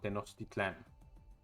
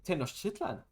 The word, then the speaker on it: Tenochtitlan: And then they found Tenochtitlan, or how the Americans say Tenochtitlan, but it's Tenochtitlan.